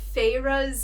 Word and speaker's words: Feyre: I appreciate the pronunciation of Feyre's name. Yeah, Feyre. Thank you for that. It looks like fire, spelled really cool.